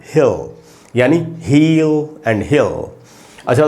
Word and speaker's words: Hal: उसके बाद है हैल, ये जो वर्ड है दोस्तों HAL, हैल, ए का जो साउंड है वो इस सिंबल से निकलता है।